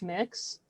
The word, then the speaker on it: Mx: So one that is used that's gender neutral is MX, and it's pronounced mix.